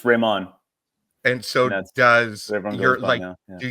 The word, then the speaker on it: Rehman: So it's Rehman.